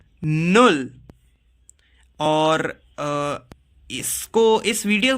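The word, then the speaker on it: null: Zero को हम pronounce करते हैं नुल. क्या प्रोनाउंस करते हैं? नुल.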